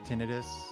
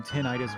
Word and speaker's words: tinnitus: It's not spelled like itis is the thing. Which sort of makes sense. I mean, tinnitus would be like inflammation of the tin, which is kind of weird.